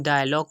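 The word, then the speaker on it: dialogue: तो जी के बाद यू ई आया तो यहाँ पर भी हम इसकी प्रोनाउंसिएशन डायलॉग करेंगे ना कि डायलॉगू, इस तरह से वो गलत हो जाएगी।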